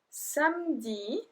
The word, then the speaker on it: samedi: So we have lundi, lundi, mardi, mardi, mercredi, mercredi, jeudi, jeudi, vendredi, vendredi, samedi, so we don't pronounce the E, we kind of skip the E.